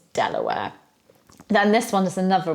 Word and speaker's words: De La Warr: and Pascoe the policeman then we've got de la Warr or Delaware de la Warr nope it's Delaware which you'll probably know if you're in American it's Delaware then this one is